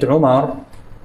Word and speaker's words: عمرو: ما رح تشكل مع عمر لانه عمر لا تحتمل الالف والتنوين اما اذا كانت في حاله النصب او الرفع فيضعون واوا لا تلفظ فيقولون عمر